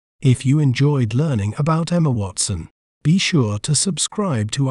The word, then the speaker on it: Emma Watson: We may pronounce it as Emma Watson.